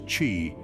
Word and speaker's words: qi: Central to this ancient practice is the concept of qi, pronounced as qi, which translates to life energy or vital energy.